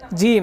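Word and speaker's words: ج: সুন্দর হয়েছে জিম হ্যাঁ জিম শক্ত এবং মজবুত আওয়াজে হ্যাঁ জিম হ্যাঁ উচ্চারণটা করেন কিভাবে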